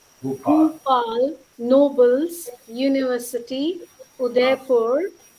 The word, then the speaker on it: Bhupal: Singh, how do you pronounce the name of your university? My university's name, it is Bhupal. Bhupal.